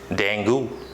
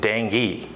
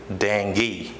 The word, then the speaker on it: dengue: many times from you all that used to pronounce this as dangle but it's not that the correct pronunciation of this term is dengue what is it dengue dengue okay more to the next word most